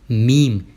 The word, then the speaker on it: meme: हाँ जी, उसे प्रोनाउंस करते हैं मीम।